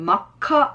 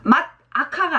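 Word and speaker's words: 真っ赤: 자 그래서 새빨간, 빨간이 악한데 새빨간은 마카 이렇게 가셔야 돼요. 맛 아카가 아닙니다. 마카 이걸 기억하셔야 돼요. 마다카 이렇게 발음하기도 힘들어. 그러니까 마카 갑니다.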